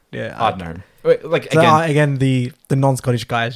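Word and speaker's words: Ardnahoe: Ardnaho. Yeah. Ardnaho.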